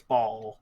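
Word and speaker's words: Bhaal: It might just be Baal. I'll check it. Oh. But why would he have an H then? I'm checking the Because it's pronunciation hot. guide. It's a hot, hot summer. It's Ball, Bawl, all caps, like balls.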